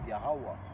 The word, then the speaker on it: Yahawah: Now that word Yahawah has been transliterated and translated to, Jehovah and everything else. Okay, but we know that the original meaning and the original pronunciation of the word is Yahawah, meaning He is, He to be.